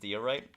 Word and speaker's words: diorite: Magic Toast says, it's actually pronounced diorite.